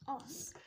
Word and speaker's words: os: un N un os os alors ici on a prononcé s d'accord il le chien